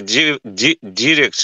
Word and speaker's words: direct: And direct, I know this word has dual pronunciation, like direct and direct, yeah. Direct. But transcription is like direct, do you see? Direct. Direct. Just maybe remember to put the stress on the first, what is it called? I forget. It's English. Mm-hmm. When you know where to put the stress, it's usually like in front.